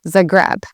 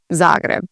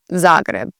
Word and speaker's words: Zagreb: said a lot is Zagreb. Again, putting the emphasis on the second part of the word and not the first. Here in Croatia, a lot of the emphasis is on the first part of the word.